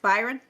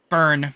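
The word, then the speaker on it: Byrne: My father, is it pronounced Byron? Burn. I think it's Burn. Yeah, Burn.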